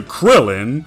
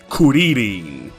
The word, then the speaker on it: Kuririn: in the Japanese version, Kuririn. His name is a combination of kuri, which is the Japanese word for chestnut, and shorin, which is the Japanese pronunciation of the Chinese word shaolin.